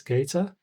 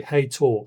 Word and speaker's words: Hator: As you can see, we have a pink one that says Gator. Oh, sorry. Heytool. Sorry. I'm not used to pronouncing this.